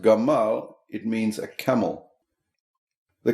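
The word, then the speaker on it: גמל: as a word spelled giml m lamad but pronounced Gamal it means a camel the Camel image goes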